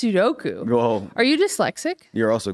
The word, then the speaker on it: Sudoku: hard to be smart Sudoku do you really you try hard at try Sudoku and that's not how you say it well you see I'm trying it's Sudoku are you dyslexic you're